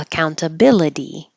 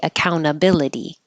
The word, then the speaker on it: accountability: servant overwhelming overwhelming a accountability and you don't have to say this T here account because it follows the N so you could leave it out and say accountability or with the T accountability leopard I know it